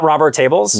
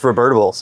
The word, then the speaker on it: Rubertables: And that's the actual way you have to pronounce it. Not Robertables? No, it's Rubertables.